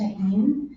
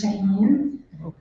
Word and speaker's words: Shaheen: Can you pronounce your name again for my last name is Shaheen. It's pronounced as if it's spelled s h a h e e n.